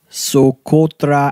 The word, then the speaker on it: Socotra: Well, my first place is Socotra Island in Yemen.